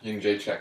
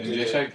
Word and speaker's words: Jędrzejczyk: I'm throwing Joanna Jędrzejczyk. How do you say her name? You said it right. Yeah, Jędrzejczyk?